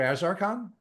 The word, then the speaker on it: Azarcon: So, let's let's first make sure that I'm pronouncing your name correctly. So, is is it Azaran? Dr. Azaran.